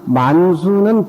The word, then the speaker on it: 만수: 가져와서 흩어뜨리는데 만수분타 최상일이라 만수는 범어로 우리가 발음으로 문수라 이러지만 범어로 만수입니다. 범어로 산스크리트로 만수예요.